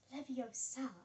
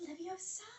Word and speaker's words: Leviosa: Leviosa so like that it's not Leviosa it's Leviosa it's Leviosa whatever I have